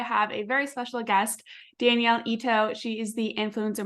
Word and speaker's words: Danielle: Danielle. Let me restart that. I was like, I literally If you go to Starbucks Danielle. or anywhere else, it might be spelled like Daniel, but it is Danielle.